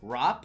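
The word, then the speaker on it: wrap: poner acá, por ejemplo, rap, se me ocurre. Aquí te voy a dar una pequeña regla de pronunciación. Y es que la W es muda en el inglés antes de una letra R, ¿no?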